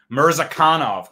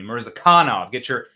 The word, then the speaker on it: Mirzakhanov: Mirzakhanov, Cal corrected me. Mirzakhanov, put the emphasis on the correct syllable, as they said.